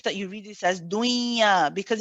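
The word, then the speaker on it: دنيا: The word ad-dunya is one of the exceptions which means that you don't merge it. You pronounce the noon nice and clearly. Okay, there are 4 words: dunya, bunyan, sinwan, and qinwan.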